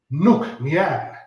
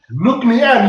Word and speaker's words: Nc'nean: Now just replace the L of look and the L of Leanne with an N. And then you will go like, Nc'nean. Nc'nean.